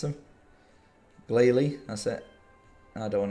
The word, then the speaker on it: Glalie: decent I think there should be one more glaze Shield glace seal I don't know how to pronounce them Glalie that's it and I don't want to exchange